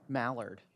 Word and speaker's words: Mallard: Mallard, there you go. Is that the R? Quack like a duck.